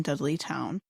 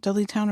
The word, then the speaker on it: Dudleytown: what they discovered during their little investigation in dudley town the warrens actually had warned people about this